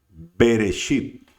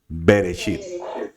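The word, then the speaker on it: בראשית: Entonces nosotros no decimos B, Reshit. ¿Cómo decimos? Bereshit. ¿Qué significa B? En. ¿Qué significa Reshit? Principio, la cabeza, etc. Entonces, ¿qué decimos nosotros? Bereshit, todo pegado.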